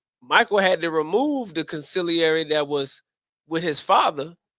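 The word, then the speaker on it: consigliere: See, going back to the Godfather, see, you have a wartime consulary. I'm pronouncing it right. Conciliary is the word.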